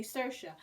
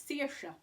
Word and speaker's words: Saoirse: people say her name, because we know Saoirse Ronan, so we say Saoirse. But she reckons, and she knows, that it's Saoirse. Straight at the beginning, it's just like, my name is Saoirse, damn it, deal with it.